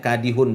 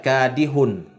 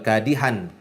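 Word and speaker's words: كادح: Makanya kadihun bacanya. Innaka kadihun. Bukan kadihan ya.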